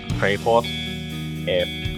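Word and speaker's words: Fraeport: My Twitter name is at Freyport. F-R-A-E port. Like a seaport.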